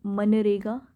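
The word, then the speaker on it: MGNREGA: और मनरेगा, इसमें जी साइलेंट रहेगा बच्चा, एक नरेगा है एक मनरेगा, अब मनरेगा कह सकते हैं या नरेगा कह सकते हैं, ठीक है।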